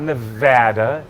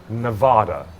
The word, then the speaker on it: Nevada: corrected me it's not it's not nadaa it's not Nevada it's it's Nevada no it is it actually it is like hat in Nevada it's Nevada you know how to